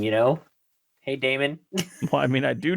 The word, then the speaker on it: daemon: what demons is that do you pronounce it like normal demon or is it demon demon Damon d d a m o NS it's Damon yeah that's how that's how it sounds like a guy's name you know hey Damon